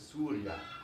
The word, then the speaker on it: سوريا: In Arabic, it's pronounced a little bit different. It's Surya, Surya. Unless, of course, you're the leader of Hezbollah and he pronounces it Surya, Surya. But in normal Arabic, both in formal and dialect, it's pronounced Surya, Surya.